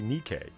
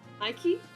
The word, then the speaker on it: Nike: Uh, Yokado asks, "How do I say Nikki?" I say it. Nikke. Nike.